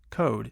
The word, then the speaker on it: code: Code is code. The E tells you to say an O. If you leave the E off, you have cod.